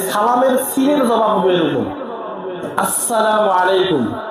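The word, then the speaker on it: السلام عليكم: সিনের জবাব হবে এরকম, আসসালামু আলাইকুম। এইখানে কোনো সুযোগ নাই সালাম আলাইকুম বলার। সরাসরি আলিফ আর সিনের মাখরাজ উচ্চারণ করতে হবে, আসসালামু আলাইকুম ওয়া রাহমাতুল্লাহ।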